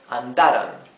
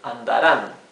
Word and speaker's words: andarán: If we don't add the tilde, here this would be read andaran, right? With the accent in this syllable. However, the accent should go in the last syllable, andaran, right?